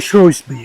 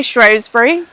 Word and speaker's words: Shrewsbury: Is Shrewsbury or Shrewsbury? How do you pronounce it? Posh people say Shrewsbury. The Oh, rest of then us, I can't rest say of us say Shrewsbury. Shrewsbury. Shrewsbury for me.